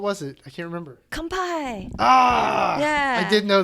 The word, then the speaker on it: kanpai: is it japanese cuisine it's not bonsai nope i mean that that wasn't karate kid yeah i know that's literally what i was mimicking it kind of rhymes with that what what was it